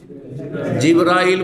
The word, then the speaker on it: জিবরাইল: হ্যাঁ, ফেরেশতাদের প্রধান জিবরাইল বা জিবরিল, দুইভাবে উচ্চারণ করা যেতে পারে।